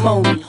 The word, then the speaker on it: Monie: Pronounce it Moni.